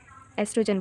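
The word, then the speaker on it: oestrogen: hormones के नाम है इसके आगे ओ ओ है इसीलिए हम लोग उसको ओस्ट्र ओ एस्ट्रोजन नहीं बोलेंगे क्योंकि ओ इसमें साइलेंट है इसलिए हम इसको एस्ट्रोजन बोलेंगे ओके देन आइडेंटिकल एंड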